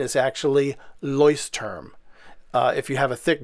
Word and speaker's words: Leuchtturm: all kinds of pronunciations for it but the pronunciation is actually leuce term if you have a thick german accent it's leucht term now what the name literally means is leuct